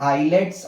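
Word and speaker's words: islets: हैं उसको हम लोग आईलेट्स ऑफ लैंगर हैन बोलते हैं ठीक है आईलेट्स of Langer hands spelling में एस आता है लेकिन उसको हम लोग आईलेट नहीं बोलते आईलेट बोलते हैं ठीक है तो क्या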